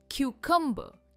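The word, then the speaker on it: cucumber: कक्कंब इसमें भी are pronounce नहीं होता है और क्यू पर इसका स्ट्रेस है। हम जैसे पूछते हैं ना क्यू एग्जैक्टली वैसे प्रोनाउंस करना है। कक्कंबर।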